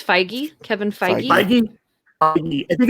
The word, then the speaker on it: Feige: and then you've got kevin feige or fiji how do you say his name i always screw that up it's feige kevin feige i think